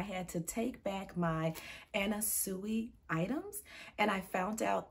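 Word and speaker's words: Anna Sui: pronounce her name correctly so it's actually anna suey and i had been saying anna sue in all of my videos so i am incredibly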